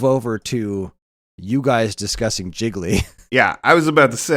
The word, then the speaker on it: Gigli: Sean, it's Gigli, like it rhymes with really.